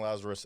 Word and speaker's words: Lazaros: And in LinkedIn is, Lazaros. Is it Lazaro? Lazarus, but it's spelled with an OS instead of a US. Yeah. Okay, with an OS, which is important. So Lazarus on LinkedIn, good place to get a hold of you.